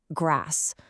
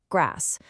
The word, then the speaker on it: grass: If you're in the UK, you'll probably hear it with a long a sound like grass. But if you hop over to the US, it's a shorter, flatter a sound, grass.